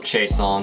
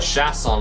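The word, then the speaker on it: Chiasson: you say it I know a couple of chaon so I'm going to say it like that they always call call it chasson on the broadcast but I'm going to do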